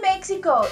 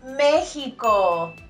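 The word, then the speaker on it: México: in Spanish is Mexico it's a very common mistake to mispronounce letter X in espanol and this is because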